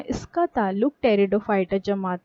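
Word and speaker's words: Pteridophyta: बाद देखते हैं टेरिडोफाइटा टेरिडोफाइटा में पहले पी लिखा हुआ है ठीक है पीटी इस तरह से स्पेयरिंग है इसमें साइलेंट है इसको टेरिडोफाइटा पढ़ा जाता बाद में आरएसी आदि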